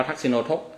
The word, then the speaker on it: ทักษิโนทก: แล้ว อุทก อ่า อุทกะ อุทก แปล ว่า น้ำ ทักษิโนทก เอา อุ ขึ้น ไป เป็น โอ บวก กัน แล้ว เป็น ทักษิโนทก อ่าน ว่า ทักษิโนทก ถ้า ตาม เรื่อง ราว